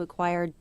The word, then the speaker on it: acquire: 자, choir라는 발음은 acquire, 인수하다에서 왔습니다.